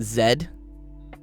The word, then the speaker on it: Z: Only the Americans say Z. Even Canadians say zed. Everyone else that speaks English also says zed. Oh, it's the American the American Z is the exception, not the rule.